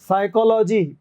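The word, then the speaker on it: psychology: ये भी से का साइकोलॉजी पीएस जो है ये भी से का साइकोलॉजी इसमें पी साइलेंट हो जाता है तो ये तीनों सेम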